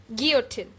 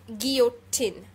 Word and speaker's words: guillotine: So the first word is guillotine. So it's not G-U-I-L-L, so we will not pronounce the L. It's basically a French word. It's called guillotine.